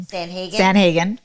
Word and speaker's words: Sandhagen: Sandhagen.